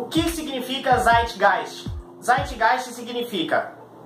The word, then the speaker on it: Zeitgeist: verdade descreve gente gente só que a pronúncia em alemão a palavra alemã então a pronúncia é site gás como você sabe disso